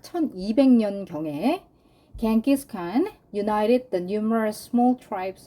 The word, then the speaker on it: Genghis Khan: 자, 그러니까 기원 후 한 약 1200년경에 Genghis Khan united the numerous small tribes of Northeast Asia under the Mongol Empire. 겐기스칸, 이게 누구예요? 징기스칸이죠. 우린 징기스칸이라고 하는데 영어식 발음은 겐기스칸이에요.